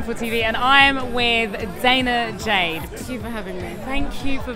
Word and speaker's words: Dana: prononciation of your name it's not Donna it's Dana it is Dana do you get it a lot as in Danish I know I don't